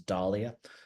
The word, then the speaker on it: dahlia: But one of the ones that always gets me, what I've always called dahlia, which I've noticed Americans pronounce as dahlia, causes a great deal